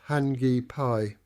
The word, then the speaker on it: Hakipe: According to Ian, the site's proper name is Hakipe, pronounced Hani Pay.